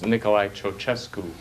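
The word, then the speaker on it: Nicolae Ceaușescu: name this communist dictator right see yourself okay I it's you have it the way it's spelled it's not pronounced like that it's Nikolai chochesku um okay bonuses uh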